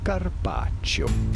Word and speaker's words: Carpaccio: we are looking at how to pronounce Carpaccio Carpaccio good now that we have our pronunciation right